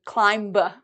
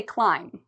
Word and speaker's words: climb: you notice B MB if you see an m and a b right after it the B becomes silent so we don't ever say climb no no no we say climb for spelling we have the B but for pronunciation we don't so let's look at